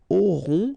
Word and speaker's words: auront: Then ils auront, final T not pronounced, O-N together, on, auront, okay.